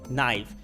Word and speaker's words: knife: তার মানে এই যে লেটারটা কে এটা কিন্তু সবসময় সাইলেন্ট থাকবে। কখন? যখন কে এর পরে এন থাকবে। যেমন তাহলে এখানে কনাইট না হয়ে এটা হয়ে যাবে নাই। কি হবে? নাইফ।